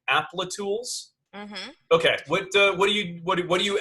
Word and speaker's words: Applitools: Applatools? Mm-hmm. Okay. What do you advocate as a senior developer advocator? Yeah. So Applitools is a startup and it focuses on visual testing.